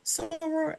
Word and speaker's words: soror: And also, I do believe, Irene, that this is your soror.